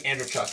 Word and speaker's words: Andreychuk: I think Andreychuk is how you pronounce it.